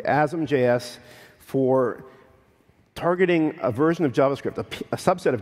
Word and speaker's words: asm.js: Well, the answer is mcripton to compile JavaScript from C++ or C and Azam.js something and that's how you pronounce it by the way asamjs for targeting a version